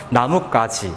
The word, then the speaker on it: 나뭇가지: 나뭇가지 여러분들 발음해 보면 나뭇가지 그래서이 가가까 나뭇까지라고 발음이 되거든요.